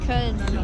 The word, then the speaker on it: Köln: We are in, how do you pronounce it? Köln? Köln.